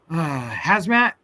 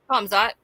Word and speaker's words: Hamzat: Hazmat. Am I pronouncing? No, you don't. You do pronounce the K. Hamzat.